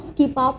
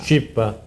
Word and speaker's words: Scipa: Skipa. Thank you. Scipa. Oh, Scipa. Scipa, yeah. Scipa, It's a different pronunciation in Italian.